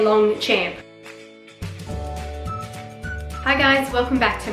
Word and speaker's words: Longchamp: You know, if you were to say to any Australian and you show them the word spelled out, how do you say this? They will just say Longchamp. I swear that's exactly what an Australian will say, so I'm trying to